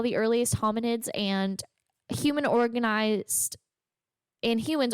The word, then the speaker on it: hominid: early phases of homo homid and human evolution did I say that right homid hominid okay but everything's pronounced homo